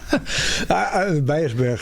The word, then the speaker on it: Beijersbergen: and then they find the Dutch do not pronounce the letter N on the end of a word. Oh, we don't think it's necessary. Because we want to have Beiersberg.